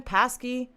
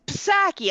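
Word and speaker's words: Psaki: her name i mean passkey it's sacky i thought i think they're saying the p might be silent but i don't know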